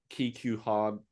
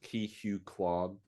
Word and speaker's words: Ke Huy Quan: But Steven Spielberg, Ki Q Han, I said his name wrong. Ki Hu Kwan thanked him recently at the Golden Globes.